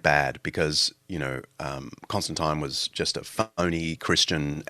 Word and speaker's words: Constantine: I think Americans say Constantine, but anyway, I come from the the Anglo Brit British Australian tradition. But um Constantine is often um used